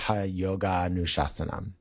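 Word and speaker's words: yogānuśāsanam: So when um so when pronounced as a verse it's pronounced yoga nassam and it's and another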